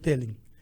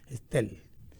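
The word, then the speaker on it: Stell: Se escribe S-T-E-L-L, no es Telling, Estel.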